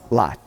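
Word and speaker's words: לוט: And then we've got the Holam Vav, sounds like, we pronounce it, which is Lot.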